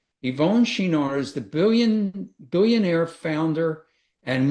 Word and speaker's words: Yvon Chouinard: And the one is I wanted to figure out how to pronounce his name. Yvon Chouinard. Yvon Chouinard is the billionaire founder and once CEO of Patagonia.